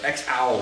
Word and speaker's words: EXAU: X-Owl is how you say it.